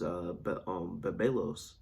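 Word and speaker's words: βέβηλος: The pronunciation is bebelos.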